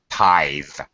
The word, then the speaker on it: tithe: Tithe, make sure you get the voice th.